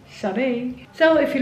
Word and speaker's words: Sade: Had a really great day today with Jasper and Sade, and finally I know how to pronounce her name, Sade.